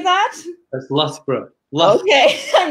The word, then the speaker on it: Loughborough: That's Loughborough.